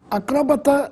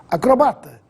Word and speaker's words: acrobata: preferencial vamos a elas acróbata ou acrobata Possivelmente você já ouviu essas duas formas Ambas estão corretas Mas para não perder o equilíbrio use a forma preferencial acrobata sem acento autópsia ou autopsia aqui